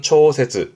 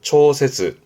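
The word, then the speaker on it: 調節: 발음은 초세즈, 초세즈.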